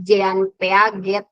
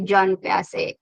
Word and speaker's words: Jean Piaget: dibenerin sama dosen saya Bacanya jangan Jean peaget gitu tapi Jan pac ada yang merangkum silakan